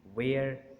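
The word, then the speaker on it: where: कहेंगे बल्कि वाई कहेंगे, वेयर और वेदर। यहाँ पर भी डब्ल्यू के बाद जो एच है वो साइलेंट है।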